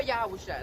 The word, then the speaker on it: Yahawashi: You know, this is our reasonable service for Yahweh wa Yahawashi.